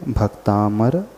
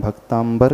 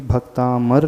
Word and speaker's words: भक्तामर: पड़ा है है तो जो लोग भी इसका उच्चारण भक्तांबर करते हैं अथवा उनकी जुबान में बैठ चुका है वे सभी लोग अपने उच्चारण को सुधार लें है क्योंकि को देखेगा वह यही कि भक्तामर लिखा है लेकिन जिस बारे में